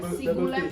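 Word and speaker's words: sigulempong: itu lagu siglepong Nah sigulepong itu kan tulisannya s i g u l e m p o n g Jadi tapi dibacanya Soalnya ada dua p sigupong sigupong opung opung itu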